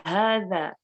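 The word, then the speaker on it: هذا: Di situ ada harokat panjangnya ya, hadza ya, hadza. Jadi bacanya hadza, bukan haza ya, bukan hadza tapi hadza.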